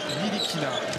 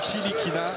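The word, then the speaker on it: Ntilikina: Franck Nilikina, c'est comme ça qu'il faut prononcer son nom. Il nous l'a dit juste avant le match. C'est ni Tilikina, ni Tilikina, c'est Nilikina, on ne prononce pas le T.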